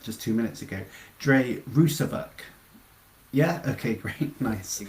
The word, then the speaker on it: Rusavuk: Dre Rousvak.